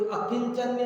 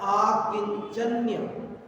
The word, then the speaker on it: आकिंचन्य: कोई इसको अकिंचन लिखेगा, कोई आकिंचन लिखेगा, कोई अकिंचन्य लिखेगा, लेकिन वो सब अशुद्ध है। शुद्ध है आकिंचन्य। किताबों में भी कहीं कहीं गलत लिखा हुआ छपा हुआ मिल जाएगा, लेकिन शुद्ध नाम है आकिंचन्य।